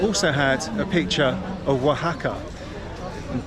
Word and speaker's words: Oaxaca: had a picture of Waka and back then I didn't know it was called Waka I thought it was called AXA interestingly enough there's a